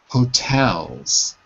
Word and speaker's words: hotels: many hotels pronunciation pronunciation hotels hotels hotels so the stress is on the second syllable not the first not hotels but Hotel